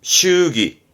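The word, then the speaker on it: 祝儀: 요게 했던 거 의자라 축의, 축의에서 발음은 슈기, 슈기 합니다. 조심하세요. 발음은 슈기입니다.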